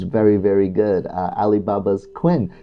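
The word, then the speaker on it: Qwen: very good uh alibaba's Quinn quen model uh qween is how you spell it there so it's another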